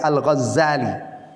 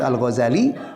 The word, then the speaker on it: Al-Ghazali: Saya lebih suka mengeja Al-Ghazali. Nah, karena itu yang lebih benar ejaannya. Nah, ada yang menyebut Al-Ghazali, ada Al-Ghazali bitasydidi zai. Ya, saya baca itu di Muqaddimah Ihya Ulumuddin itu lebih ada yang mengatakan ini lebih tepat.